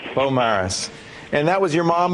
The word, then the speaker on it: Beaumaris: Is it Beaumaris or Beaumarie? We were debating. Beaumaris. Beaumaris.